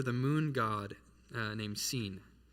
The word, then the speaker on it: Sin: moon god uh named seen it's spelled s in like sin but um it's not the same concept as sin for us um so that it